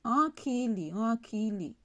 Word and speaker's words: ankili: Par exemple, quand on dit ankili, ah, il y a, vous voyez, il y a le petit accent circonflexe ici. Vous voyez, là, en, ça se prononce en, comme le en français, du franc.